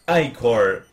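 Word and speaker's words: Ichor: The I-Core pronounced I-Core.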